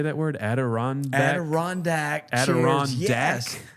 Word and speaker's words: Adirondack: Adirondack. Adirondack. Adirondack? Chairs. Yes. Adirondack.